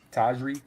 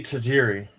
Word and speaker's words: Tajiri: Taj Tajri. Tajri. Is that how you say his name? Satoshi. Satoshi. I know I'm messing up his last name. Satoshi. Tajiri.